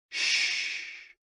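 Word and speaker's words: xu: the six sounds are X U pronounced like shhh with a deep sigh which is associated with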